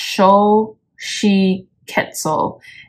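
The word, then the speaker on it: Xochiquetzal: and around you yeah so her name is pronounced Sho she quetzel and her affirmation is I see beauty in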